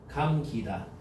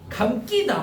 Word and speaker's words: 감기다: 이거 발음해봐. 감기다 막 이래. 일부러 막 그렇게 강조해. 감기다, 감기다 이런다니까. 테이프가 감기다, 테이프가 감기다, 그죠? 이렇게 안 한다고.